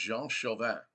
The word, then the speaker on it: Jean Chauvin: I think his French name is pronounced Jean Chauvin, okay? Jean Chauvin, okay? Like chauvinist, you know, Jean Chauvin.